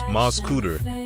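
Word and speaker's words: Mascoutah: aspirations in the rolling fields of msca Illinois pronounced MZ cutter just a short drive from St Louis lies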